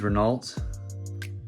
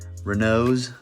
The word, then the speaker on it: Renault: of these renaults renaults i keep saying it wrong you know because i look at that i'm like renault but i guess the proper way to say the name is renault i don't know where you get renault out of that but yeah so i